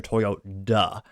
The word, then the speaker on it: Toyoda: Toyoda.